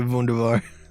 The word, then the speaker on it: Wunderbar: That was a terrible pronunciation. I was supposed to say wunderbar.